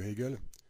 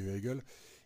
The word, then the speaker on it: Hegel: la philosophie de Hegel, je dis bien la philosophie de Hegel et pas la philosophie d'Hegel parce que c'est pas très joli, donc on va essayer de prononcer quand même le H plus ou moins.